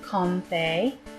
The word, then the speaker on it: Comfey: Next we have Comfey. I'm pronouncing it that way because Fae is a type of fairy, and it's comfy, I suppose.